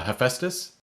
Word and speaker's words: Hephaestus: a truth a truth a truce with uh hephaestus is that how you say it right yes